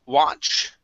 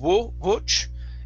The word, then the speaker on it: watch: Next up is the word watch. Instead of watch, it's wa. An ah sound.